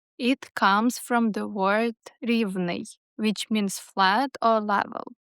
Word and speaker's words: Rivne: Riven Riven stress on that first syllable. Rivne's name is all about geography. It comes from the word Riven, which means flat or level.